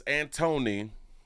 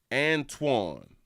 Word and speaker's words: Antoine: My name is Antony. You say Antoine? Antoine. Oh, that's how you pronounce it?